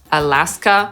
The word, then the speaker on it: Alaska: Więc A jak Alabama /æləˈbæmə/, Alaska /əˈlæskə/, Arizona /erɪˈzoʊnə/ i ten pierwszy kłopotliwy – Arkansas /ˈɑːrkənsɑː/.